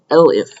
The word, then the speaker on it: elif: It's called elif, and it's short for else if. In some languages you spell it out, but in Python you just say elif.